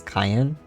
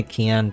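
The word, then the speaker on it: Kien: And but people tend to pronounce it as Cayenne. But then when they hear me say Keon, then they then then it like there's like a switch that goes off like, "Oh yeah, okay."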